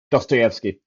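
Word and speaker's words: Dostoyevsky: Dotoyvki.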